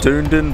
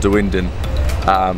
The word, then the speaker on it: Dunedin: in the wind and I thought it was called dune dune but I've been speaking to some locals and I think it's called the windin so this is the